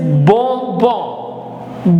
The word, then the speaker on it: bonbon: How did it become bonbon? O-N gives all sound, so it is bon, and then again we have the same thing, bon. So bonbon. The next is B-O-N-N-E, which